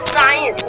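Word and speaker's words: science: होता है, और उसको हम क्या करते हैं, प्रोनाउंसिएशन नहीं करते, ठीक है। जैसे यहाँ पे एग्जांपल से साइंस, ठीक है, साइंस देखिए यहाँ पे रेड एस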